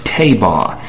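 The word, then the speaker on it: תבה: Anybody can get a Strong's Concordance and find out that the word for ark in the ancient Hebrew is pronounced tabah, and it doesn't rhyme with anything to do with the word ark, A-R-C.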